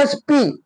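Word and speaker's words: SP: येत ए म्हणून काय येत ए पुढच बघा एस प जरी हा काय आहे कॉनंट आहे तरी याचा उच्चार कॉजोन नाही तर याचा उच्चार वेल याची सुरुवात होती एस प पुढे बघा एम एल ए जरी कॉजोनंट आहे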